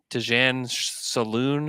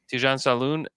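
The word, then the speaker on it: Tidjane Salaün: say this guy's name Dean Salon how do you know how to say his name tjan Salon salun tjan Salon like he's another one six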